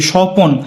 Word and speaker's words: স্বপন: দিয়ে বোঝাইছি এখন দেখো দন্তীষ আছে কিন্তু উচ্চারিত হচ্ছে কি সপন স এর মত চ